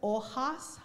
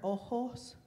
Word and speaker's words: hojas: Be careful with las marchitas hojas. I heard ojos. Hojas, which are leaves. Ojos are eyes.